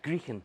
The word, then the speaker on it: Greechan: Grand, you still haven't learned how to pronounce my name. After all these years, it's Grien.